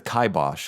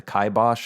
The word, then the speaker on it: kibosh: And it also sounds kind of like a Yiddish word, but there's nothing, there's no real solid etymology for kibosh.